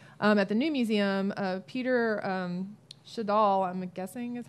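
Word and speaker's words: Schjeldahl: and a Weapon at the New Museum, Peter Shadal, I'm guessing is how you pronounce it? Shadal. Oh gosh, I was totally off. Shadal.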